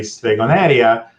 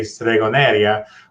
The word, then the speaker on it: stregoneria: a little poetic and you know and say stregoneria because YouTube will close caption what I write